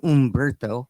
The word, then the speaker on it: Humberto: Humberto. Because I won't be able to say it right. The Spanish stations will say Umberto.